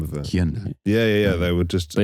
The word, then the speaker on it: Hyundai: Hyundai Elantra.